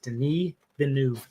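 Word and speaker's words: Denis Villeneuve: If you try to pronounce his name, it looks like Dennis. It's not. He pronounces it Denise Benu.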